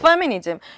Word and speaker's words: 페미니즘: 그러면 이쯤에서 사실 페미니즘 되게 많이 말씀하셨는데 F로 발음해주세요. 페미니즘이라고. 페미니즘.